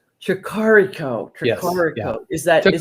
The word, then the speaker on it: Tricarico: Tricarico. Tricarico. Yes, yeah. Is that? Took me a while too. It's okay. Is it Italian? Italian. And yes. I was trying to pronounce it like Spanish.